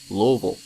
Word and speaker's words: Louisville: you're not from here I guess it is pronounced Louisville I don't care it's pronounced global not Louisville